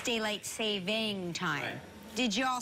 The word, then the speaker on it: daylight saving time: it's by the way it's not daylight savings time it's daylight saving time did you all say